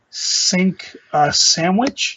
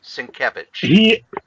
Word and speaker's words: Sienkiewicz: Me and my pronunciations. Cacophony. Cacophony. It's Cacophony. Thank you. Number 2, the variant cover by Bill Sandwich. Sienkiewicz.